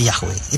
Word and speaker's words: Yahweh: Nah, kalau saudara ketemu Tuhan huruf besar semua, itu dari bahasa Ibrani 4 huruf mati, tetragrammaton, Yod, He, Waw, He, atau Y-H-W-H yang kita baca Yahweh.